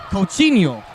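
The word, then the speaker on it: Coutinho: Coinho. Coinho. Even though it's a T.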